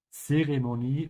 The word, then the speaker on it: Zeremonie: Ja, ohne Zwischenfälle, make sure to pronounce that T of the Z. Ja, both Zeremonie und Zwischenfälle.